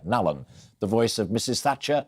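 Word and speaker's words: Nallon: and we'll hear from steve nalen or nalum depending on how you say it i've just been told off in my ear nalan the voice of mrs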